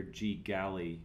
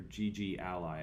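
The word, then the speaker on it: GGally: we go and the this Library here G galy or GG Ally I think is probably how it's pronounced is a collection of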